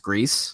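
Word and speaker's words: Gris: of you have grease it's spelled GRI ass but I think it's pronounced grease I think it is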